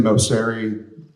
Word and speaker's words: Moceri: Moseri, last name is spelled Moceri.